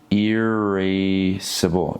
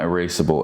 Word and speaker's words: irascible: I did say it wrong. It's irascible. Irascible, not erasable.